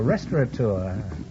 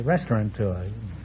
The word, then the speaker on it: restaurateur: Oh, a restaurateur. Many people mispronounce it and say restaurateur.